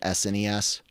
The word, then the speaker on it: SNES: And guys, the proper way to pronounce it is NES and SNES or Super NES.